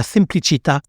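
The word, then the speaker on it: semplicità: partieprix de la simplicité la simplicita avec l'accent tonique sur le a tout en cultivant une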